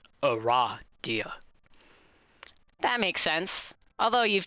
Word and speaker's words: Aradia: novels aren't canon so it is pronounced a raw deal that makes sense although